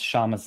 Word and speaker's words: Kshama: Whoever wrote that line, Kshama, please correct me in the chat if I mispronounce Shama's name and I overpronounce the K.